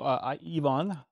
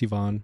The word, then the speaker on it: Ivan: So you, Yvonne, which would be how they pronounce it in Croatia. Unless you've anglicized it to Ivan. No, it's Ivan.